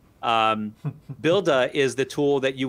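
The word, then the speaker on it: Buildah: in their case builder it's a like the boston way to say builder um builda is the tool that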